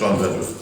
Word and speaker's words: Llanbedr: Yeah, it's Llanbedr.